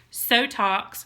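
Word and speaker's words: SoTox: game for so talks so talks rhymes with Botox ding-ding-ding so talks rome's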